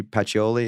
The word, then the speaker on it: Pacioli: in the name by the way the Satoshi pachioli did I pronounce that correct correct yeah what's in the